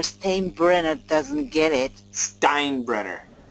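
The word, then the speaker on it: Steinbrenner: brard doesn't get it Stein brener T make sure time brener doesn't get it I know the E is first but the I is pronounced yes crazy English super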